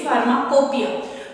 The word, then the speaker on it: pharmacopoeia: फार्माकोपिया इसकी pronunciation है फार्माकोपिया, लेकिन इसके स्पेलिंग में आप लोग ध्यान दीजिए, PHARMACOPO, फार्माकोपोइया। स्पेलिंग में इसकी POEIA है, लेकिन इसको पढ़ने में जो हम इसकी प्रोनाउंसिएशन करते हैं दैट इज फार्माकोपिया। तो इंडियन फार्माकोपिया, जिसको हम